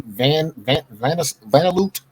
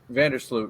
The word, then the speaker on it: Vandersloot: I can't pronounce this lady's last. She's on Chicago. Her name is Courtney Vandersloot. Vandersloot, yeah.